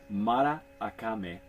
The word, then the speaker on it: Maracame: It says I've been mispronouncing it on the back of the box here. So Maracame, and we have fallen in love with this tequila out of Absolutely.